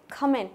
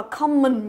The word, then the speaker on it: comment: Phương ở đây này, chúng ta đọc là comment. Comment. Không đọc là common nhớ chưa? Rất nhiều người đọc là common, nhưng mà đọc là comment. Comment. Tức là cái âm thứ hai này là âm E nhớ chưa? Và thứ hai là trọng âm của nó giữa âm thứ nhất.